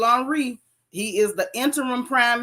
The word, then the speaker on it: Henry: this dude Arielle Henry they spell it Henry you know but they they on Frances now so you know they got to be fancy um Ariel on Reed he is the interim